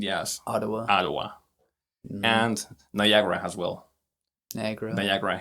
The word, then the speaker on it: Ottawa: When we say Ottawa, for us in Spanish it is Ottawa. Right. Because we see the double T, so we may say Ottawa.